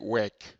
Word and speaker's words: WIC: open embedded image creator you make an acronym out of it. And you pronounce this, then it goes like wick. Which sounds basically funny. Wick. And if you want to make it more easy to pronounce, then they call it wick.